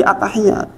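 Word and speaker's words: التحيات: sendiri jenengan baca Arabnya attahiyat itu sudah betul belum bacanya attahiya attahiyat ta dobel ya dobel kalau baca gini attahiyat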